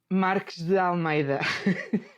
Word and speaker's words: Marques de Almeida: Marques de Almeida. Oh my gosh. Okay, so you mentioned did I do okay? Marques da Almeida.